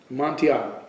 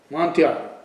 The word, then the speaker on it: Amontillado: Amontillado. That's how you say it. Amontillado.